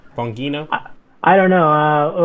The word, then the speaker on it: Bongino: okay yes there's don begino there with all his you know wait which i'm pronouncing that wrong how's that supposed to be pronounced bongino i don't know uh